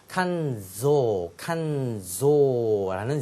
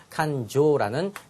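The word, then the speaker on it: 感情: 칸조라는 Z 사운드가 아니라 칸조라는 J 사운드를 정확하게 하셔야 되겠다라는 거 기억하시고요.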